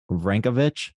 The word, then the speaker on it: Vranjkovic: Joining me today is Mike Vranjkovic.